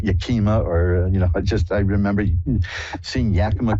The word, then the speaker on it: Yakima: Karen in Yakima, Washington. Hi, you're on with Reverend Elliot. Hi, Elliot. Hi, did I pronounce that right, Yakima?